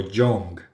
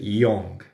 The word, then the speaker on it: young: Y young, que es joven, muchas veces lo pronuncian como young, pero no, es young.